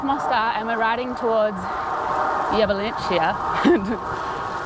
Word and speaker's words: Jablanica: So we've left Mostar and we're riding towards Jablanica. It's spelt in English like Jablanica. But everyone's been correcting us because it's like Jablanica or something.